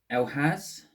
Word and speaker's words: Elhaz: I'm just flicking through my book to see the pronunciations. Yeah, Elhaz, I got it right.